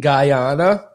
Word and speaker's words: Guyana: Is it Guyana?